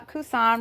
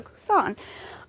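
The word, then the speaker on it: Coussin: people call this the cousin bag. It's not a cousin. Your aunt's children are your cousins. Uh, Kusan, remember this is a French brand.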